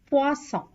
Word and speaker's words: poisson: SS, two S's together is pronounced as S, as in coussin, poisson. S, one S is pronounced as Z. It has a Z sound, Z, as in cousin, poison. Here again, have a good note on these two.